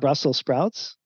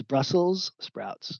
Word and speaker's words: Brussels sprouts: And it's not Brussels sprouts. It's Brussels sprouts. And I had to check that. I didn't know that until I put this slide together. But it is. It's spelled with an S, named after Brussels.